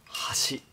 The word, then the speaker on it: hashi: This is because in the Japanese language, the pronunciation of chopsticks and bridge are both hashi.